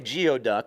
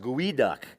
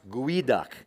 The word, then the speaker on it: geoduck: say a crime a lot of people say geoduck which is exactly how it looks however it is pronounced GUI duck it comes from the nesquali tribe the lusso